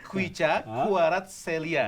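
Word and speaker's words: Khvicha Kvaratskhelia: Kuicha Kvaratskhelia. Lu kan pemain Thailand, pemain Vietnam, Laos, lu hafal kan? Gimana bacanya coba nih? Itu tadi Kuicha Kvaratskhelia. Nah, itulah pokoknya ya. Pokoknya V itu dibacanya W.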